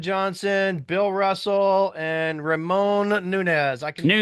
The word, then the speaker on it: Nunez: It's spelled right. You're good. Oh, Okay. by the way, hey, Joe. Is it Nunez?